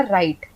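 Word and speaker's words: right: तो यहां पे हमने आर आई जी एच टी में जी एच साइलेंट हो गया हमने बोला राइट हमने राइट नहीं बोला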